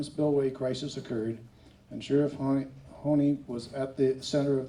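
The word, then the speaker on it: Honea: Sheriff Corey Honey is the elected Sheriff Coroner of Butte County.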